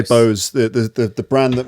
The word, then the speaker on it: Bose: say this brand name Bose is it or Boza Bose I would say Bose the the the brand